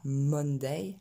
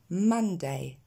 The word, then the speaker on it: Monday: C'est pas Monday, mais Monday. blood.